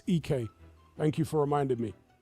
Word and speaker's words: Ike: I just discovered that literally yesterday or the day before that it's EK.